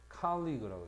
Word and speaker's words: colleague: 직업상의 동료, 친구, colleague, 특히 발음을 잘 하는지 colleague라고 해요. colleague.